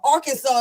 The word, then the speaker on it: Arkansas: Kansas is Kansas, but Arkansas is not Arkansas.